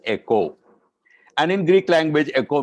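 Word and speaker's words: οἶκος: i k o s which in Greece is pronounced as Echo and in Greek language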